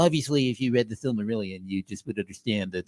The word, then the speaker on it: Silmarillion: I don't even know how to Service pronounce heads. Silmarillion.